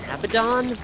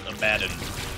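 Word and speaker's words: Abaddon: yeah yeah like a b oh is that abidon dude oh God you know it's actually pronounced abadin yeah I just got an abidon evil damage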